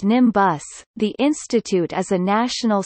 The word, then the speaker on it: NIMBioS: Known by its acronym NIMBIOS, pronounced NIMBUS, the institute is a National Science Foundation (NSF)